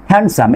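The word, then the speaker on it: handsome: তারপর এখানে খেয়াল করেন কয়েকটা ওয়ার্ড আছে, স্যান্ডউইচ, হ্যান্ডসাম, এখানেও কি হচ্ছে আপনার ডি লেটারটি কি হচ্ছে না, উচ্চারিত হচ্ছে না।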